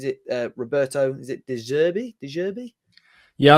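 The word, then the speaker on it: De Zerbi: uh Roberto is it deserby yeah I think deserve is the way he pronounced it what's so close to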